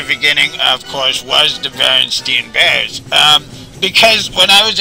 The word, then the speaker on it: Berenstain: I'm with you, I clearly remember it as, steam too, because I remember my papa telling me, no, you're saying it wrong, it says Berenstain, he corrected it, and